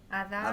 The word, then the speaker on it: Adare: Eh, Adar. Adar, Adare se escribe.